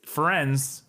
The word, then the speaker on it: Firenze: I'm pretty sure it's Firenze.